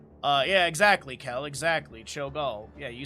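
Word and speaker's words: Cho'gall: Choal.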